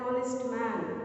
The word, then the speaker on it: honest: Honest, an honest man. Okay, here we have H, but the sound is O.